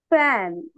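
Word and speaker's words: fan: এ না elephant elephant ফ্যান এটা আমরা অনেকে ফ্যান বলি খ না এটা দুইটা ঠোঁট একসাথে মিক্স করবো না উপরের দাগ নিচের ঠোঁটের সাথে ফ্যান ফ্যান জি কিভাবে উচ্চারণ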